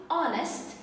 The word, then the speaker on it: honest: silent ash okay like honest and our okay these words if you pay attention I don't have the the H is silent okay so I don't pronounce the letter H with my trousers so